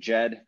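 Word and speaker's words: ḏd: most common words uh egypt's logical pronunciation jed coptic joe and then uh jeddah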